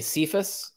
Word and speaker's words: Cephas: So like there's people will say Cephas, that is the traditional English translation of Kephas, which is Peter. So Kephas is the actual pronunciation. Cephas is a modern English version.